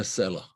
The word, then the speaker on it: Sela: Sela, S-E-L-A, I suppose you would say in English, you would spell it, which also means a rock, as I explained, a cliff, an embedded rock.